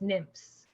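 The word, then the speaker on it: NMFS: which is a part of noah and that's pronounced nymphs okay we're learning all sorts of things here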